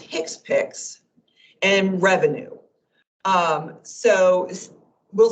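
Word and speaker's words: HCPCS: will be using CPT the hcpc is pronounced Hicks picks and Revenue um so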